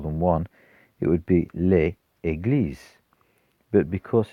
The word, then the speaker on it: les églises: of the equal sign, but when we pronounce it, we pronounce a little z in front of the e. Les églises.